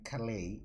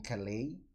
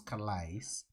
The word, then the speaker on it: Calais: four years five years i thought the word was collides just uh reading like it's written and then it comes out that it's not the correct pronunciation so let's now see